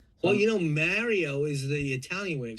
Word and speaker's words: Mario: in a side-scrolling game like a Mario game or something. And Yeah. yes, I say Mario, not Mario. Like getting married, Mario.